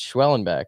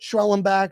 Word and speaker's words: Schwellenbach: I think it's Schwellenbach, but Schwellenback, Swollenback, we don't come to you for the pronunciation.